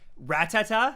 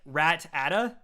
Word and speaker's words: Rattata: I was a kid, I used to say Rattata, like Rat-ata.